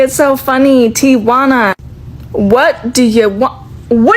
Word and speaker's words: Tijuana: I went to Tijuana to have a breast lift and implant surgery. The very first video I ever posted about it, I said Tijana.